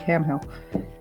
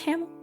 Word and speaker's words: Hamill: Because I saw Mark Hamill has voiced Joker before, and I want to sound like Mark Hamill.